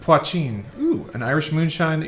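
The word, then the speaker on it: poitín: Pronounced Poachin.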